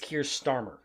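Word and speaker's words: Keir Starmer: is he dear stammer is how the brits pronounce it it's kier starmer curious oh i've been listening to navarro media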